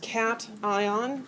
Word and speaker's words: cation: And it's pronounced cat ion and an ion, notation and anion.